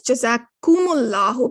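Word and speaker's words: جزاكم الله: group you should be the correct way to say it is jazakumullahu because it indicates the comb indicates to plural and we're going to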